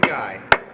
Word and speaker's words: Guy: pronunciation is Guy, the same word as Guy in French.